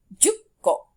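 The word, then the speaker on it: じゅっこ: The ko doesn't change, but it is the number that sort of gets shortened. So 1 is ikko, 6, rokko, 8, hakko, and 10, jukko.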